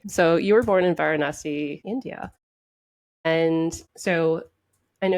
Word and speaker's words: Varanasi: And I'm going to butcher the name, but can you pronounce the name of the town that you were born in? Varanasi. Varanasi.